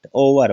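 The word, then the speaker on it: hour: कुछ एक्सेप्शन भी होते हैं, तो पहले देखिएगा ओ आर, ओ से पहले जो एच आया है तो वो क्या है, साइलेंट, ओवर बोलते हैं।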